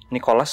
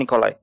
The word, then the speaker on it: Nikolai: mau balik ke rumahnya Nikolas ya Nikolas apa nikolai Nikolas nikolai nikolai Oh bacanya nikolai enggak tahu pokoknya tulisannya